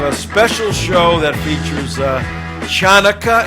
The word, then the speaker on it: Hanukkah: To tomorrow, we're going to have a special show that features Chanukah. Is that how you say it, Schmucky? No. Jonica. How do you say it? It's Hanukkah.